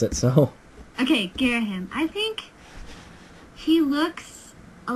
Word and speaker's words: Girahim: That's how I pronounce it, so... Okay, Girahim.